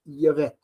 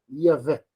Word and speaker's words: Yahvé: Olha como é que a gente fala, Yahvé. Yahvé. Então, repara que tem como se minha boca fizesse uma ressonância, Yahvé.